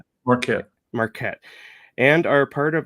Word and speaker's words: Marquette: Is that how you pronounce Marquette. that? Marquette.